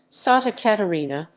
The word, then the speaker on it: Santa Catarina: santa catarina state santa catarina portuguese pronunciation sata catarina saint catherine is a